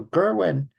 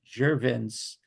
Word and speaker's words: Gervin: So Gerwin, I can't pronounce his name right, but excuse me. Gervin.